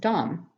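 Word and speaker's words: דם: blood from your hand the word for blood is dumb pronounced dumb the translations and Strong's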